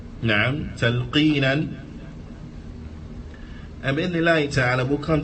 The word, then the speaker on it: talqeen: The Imam, he says, Talqeenan. Naam. Talqeenan. And bi'idhnillahi ta'ala, we'll come to see what is the meaning of talqeen.